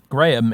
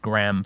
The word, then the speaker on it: Graham: i will never forget the swedish tollbooth incident graham is a two-syllable word in in in british english my dad's name is graham but americans pronounce it graham for some reason and they pronounce craig craig